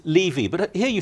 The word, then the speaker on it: Levy: So in Britain, we always used to say Levy, but here you say Levy, don't you?